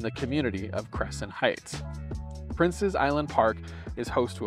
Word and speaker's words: Prince's Island: to rest welcome to Prince's Island Park which commonly is mispronounced princesses Island park or something like that but it's not it's princes like a prince because Paul Anthony prince